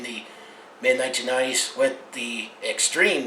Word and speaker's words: Xtreme: mid 1990s with the extreme name and it's spelled x t r e m emphasize the x part as well but when this team